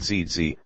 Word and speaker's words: Gigi: My grandmother Gigi, pronounced ZZ, always dressed up for church.